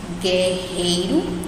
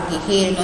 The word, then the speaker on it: guerreiro: Nessa palavra guerreiro, nós não falamos guerreiro, né? De novo, a gente não pronuncia o U, é como se não existisse.